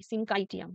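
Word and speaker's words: syncytium: scene ট্রাইটিয়াম দিয়েছে বাট এটার উচ্চারণ হচ্ছে সিংকাই এস এস আই এন সি এইচ ওয়াই সিনকাইটিয়াম টি আই এম হুম তো এটা টাই দিয়েছে বাট টাইটা আমার মনে হয় হবে না এটা কাই হবে সি এইচ ওয়াই কাই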